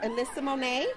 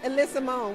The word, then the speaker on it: Ella Sumone: But we're here with Alyssa Monet. Did I say it right? I said it wrong. Alyssa Monet.